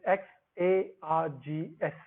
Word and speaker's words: xargs: towards x args command it is actually written as x a r g s which we pronounce as x args so let's go back